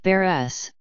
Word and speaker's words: Barres: Barth pronounced Burris was born on September 13 1954 in West